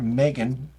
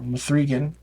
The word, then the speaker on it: M3GAN: what you would anticipate people say that Megan or mithregan or M3 again whatever you want to pronounce it is very different than